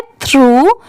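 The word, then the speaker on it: through: है ये क्या है थ्रू टी एच आर ओ यू जी एच इसकी प्रोनंसिएशन क्या है? थ्रू।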